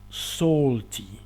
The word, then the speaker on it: salty: Salty. Se escribe S-A-L-T-Y y se pronuncia salty, como si la A fuese una O.